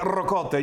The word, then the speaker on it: ricotta: And when you say ricotta, you've got to roll your R's.